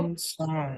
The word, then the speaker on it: grandson: Acá lo mismo, acuérdate que grand, a pesar de que se escriba con A, va a sonar como E, grand, ¿sale? Entonces, ¿esto cómo se va a pronunciar? Vamos a decir, ¿cómo? Grandson.